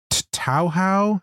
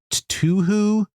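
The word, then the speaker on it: Touhou: But is it Tauhou? Is it Tuhu? How do you pronounce that? Toho. Toho? Is it Toho? Okay. Toho. There you go.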